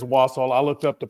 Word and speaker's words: Wassail: Jax, I think it is Wassel. I looked up the pronunciation. I was going to say, I'm pretty sure it is. So when he said Wassail, I was like, have I been saying it wrong?